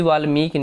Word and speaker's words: वाल्मीकि: जैसे वाल्मीकि, महर्षि वाल्मीकि ने रामायण लिखी, तो हम बोल रहे हैं वाल्मीकि, यानी म पे बड़ी की मात्रा लग रही है और क पे छोटी की मात्रा लग रही है।